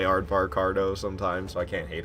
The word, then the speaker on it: Aardvarkado: It's like, just say Aardvark, and then the end pronunciation of avocado. So, Aardvarkado.